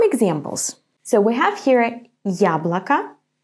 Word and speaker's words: яблоко: So, in the word яблоко, I pronounce it strong, я. To pronounce it like this, you have to say first the sound й, and then а, я, я. It's like the beginning of the English word yummy, ya.